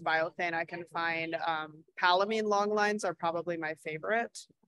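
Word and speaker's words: Palomine: i can find um palamine longlines are probably my favorite halamine yeah it's spelled like palamai palo p-a-l-o-m-i-n-e yeah like palomino but with him instead of an o um i heard you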